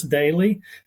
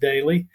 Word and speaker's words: Doelle: My name's Daly. I know it's spelled Doelle, but it is actually pronounced Daly.